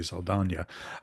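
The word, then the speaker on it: Saldaña: Zoe Saldana is, and I'll try to pronounce her name the proper way, Saldana.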